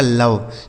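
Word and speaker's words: love: है ठीक है आगे एल ओ वी ई एल से हो गया दोस्तों दोस्तों ल इस ओ का उच्चारण अ हो गया वी ई से व लिखा आपका लव ठीक है डी ओ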